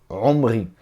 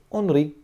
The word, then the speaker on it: Omri: Omri, já eu vou falar o nome dele na pronúncia em português. Melech Israel. Rei de Israel. Quem é esse Omri? Onri, né? Onri, em português eu acredito, eu até escrevi para mim aqui, sim, Onri, né? E isso aqui, isso muitas